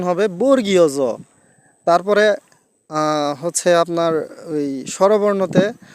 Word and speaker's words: বর্গীয় জ: থেকে ম পর্যন্ত এই শব্দ সরি বর্ণগুলা হচ্ছে বর্গীয় বর্ণ তাই আমরা যে ওই যে একটা আছে চ ছ জ এই জ টাকে আমরা বর্গী বলি এই বর্গীর না আসলে এটার উচ্চারণ হবে বর্গীয় জ তারপরে হচ্ছে আপনার ওই স্বরবর্ণতে আমরা উচ্চারণ করি